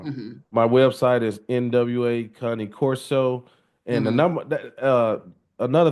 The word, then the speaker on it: Cane Corso: My website is NWA Cah-nee Corso, and the Hmm. number. Another thing we was talking about the pronunciation of Cah-nee Oh yeah, Corso.